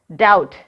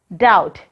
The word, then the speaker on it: doubt: D-O-U-B-T. How can we read this word? Doubt. Repeat it, doubt. Here, letter B is silent.